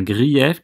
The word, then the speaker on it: grief: le mot greffe un grief qui se prononce greffe ici pour qu'on ait le bon nombre de syllabes grèves tournantes ça veut